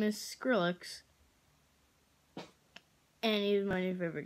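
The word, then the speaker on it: Skrillex: I don't know if I'm pronouncing it right, but there's two ways to pronounce it. Trillix or Skrillix. But either way, his name is Skrillix, and he's my new favorite guy.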